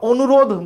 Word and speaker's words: অনুরোধ: আমরা অনুরোধ বললে কি ধয়ের সাথে সে অয়ের উচ্চারণটা করতেছি? উত্তর হইতেছে না, আমরা অয়ের উচ্চারণটা তো করছি না, তাইলে সেখানে হসন্ত চিহ্ন দিতে হবে।